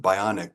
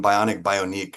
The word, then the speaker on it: Bioniq: I was calling Bioniq on the Prez team call. So please forgive me because there's a Q in there. The proper pronunciation is Bioniq.